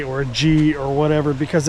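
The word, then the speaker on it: เกาะ: So the word is spelled in phonics with a K. It's not correct. It's not co-chang. You can say whatever you want. People understand for the most part what you're trying to say. But the the Thai word for island is go spells go.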